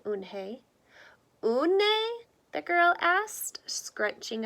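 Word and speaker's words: Unhei: our girl asked Owen hey said own hey une a that girl asked scrunching up her nose ooh some kid chanted no no Owen hey corrected it spelled you and H II I it's pronounced une hi oh it's you hey the boy said like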